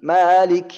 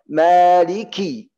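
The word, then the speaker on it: مَالِكِ: Malik yaumiddin. Malik yaumi. Salah. Yang benar harus jelas kasrah. Maliki. Ki. Maliki yaumiddin. Harus jelas kasrat kaf.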